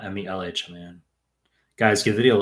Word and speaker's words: Mehlman: You spelled my name wrong. It's Mehlman, not Mehlman. Guys, give the video a like if you're coming in here. Ali H just saying hi, Dr. Mehlman.